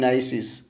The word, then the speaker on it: gneisses: temperature, slates are converted into phyllites, schist and gneisses, or gneisses, you can say in general pronunciation.